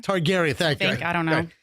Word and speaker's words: Targaryen: Targaryen. Targaryen.